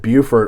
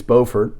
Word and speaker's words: Beaufort: pronouncing that one right I said Beaufort on the Yale and it's Beaufort and so can't imagine